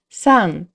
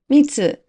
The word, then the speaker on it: 三: The pronunciations are san, mi, mitsu, mitsu. みかんが 3 つ。